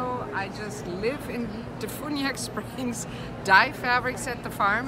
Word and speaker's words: DeFuniak Springs: We're here at the International Quilt Festival with Gabrielle of Fabrilish from, how do you say that, Defuniak Springs? No, Defuniak Springs.